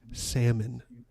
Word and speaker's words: salmon: accidentally once i'm like it's salmon the l is silent you don't walk up